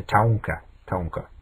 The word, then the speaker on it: Taunka: The northern Tauren became the Taunka, that's how it's pronounced.